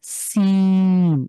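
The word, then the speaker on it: سين: হরফটা পরবর্তী হরফটা দেখেন সিন ইংলিশে যে এস আছে না এস ঠিক সেম আপনি এভাবে উচ্চারণ করেন জীবটা নিচের দাঁতের সাথে লাগিয়ে সিন সিন সিন এটা খুব স্বাভাবিকভাবে ইংলিশের এস এর মতন আচ্ছা হরফের ভিডিও লিংকটা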